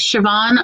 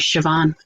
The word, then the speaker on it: Siobhan: It just has a BH in it that's pronounced as a V. That's the only thing that makes it difficult. Look, you know what? The word Siobhan looks nothing like how they spell it.